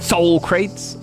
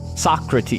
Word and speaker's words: Socrates: Soul crates. I made that up. Socrates. Yeah. Yeah. I know that's pron pronunciation, but there's like a meme where like somebody called him soul crates and now I now I just like to call them soul crates cuz it sounds funny.